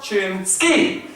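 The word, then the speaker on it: Chinski: name you sir your chin ski it's very simple it puts this great image of a ski of a chin skiing down the slope uh it helps i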